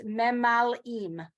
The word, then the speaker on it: memalim: That's a hard one because you have the shva and the emphasis and all of that. So it's memalim.